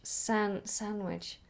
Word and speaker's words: sandwich: else sandwich or sandwich sandwich sandwich sandwich is an a tricky one because if you're being very specific then you would try to pronounce the D but I don't think many people do sandwich let's have a